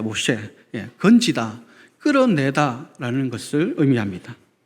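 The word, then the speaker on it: משה: 이것이 히브리식 그 발음대로 하면 모셰가 됩니다. 모셰, 건지다, 끌어내다 라는 것을 의미합니다.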